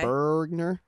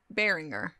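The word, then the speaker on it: Beringer: was 5.99 that's okay burgner like sweet james bergner no that's not how it's spelled bearinger sure sure this is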